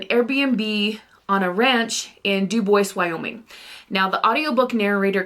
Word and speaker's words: Dubois: stay at an Airbnb on a ranch in Duboce, Wyoming. Now, the audiobook narrator kept calling it Dubois. I live in Wyoming. I know how we say our towns. It is called Duboce.